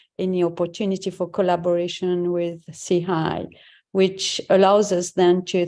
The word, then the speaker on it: SIHI: So as I said earlier on, we pronounce SIHI as SIHI.